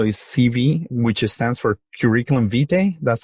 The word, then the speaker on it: curriculum vitae: guys but also is CV which stands for curriculum vitae that's how you pronounce it and there's obviously we spoke with dr.